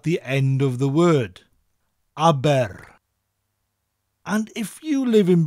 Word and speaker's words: Abertawe: Now, Aber is pronounced like the name of the Swedish pop group, ABBA, but with that rolling R sound at the end of the word. Aber.